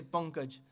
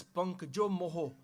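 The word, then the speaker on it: ਪੰਕ ਜੁ ਮੋਹ: Punk means a swamp, or in also some people say pankaj, as one word put together with the punk and the jajja. But we pronounce it as punk jo moho.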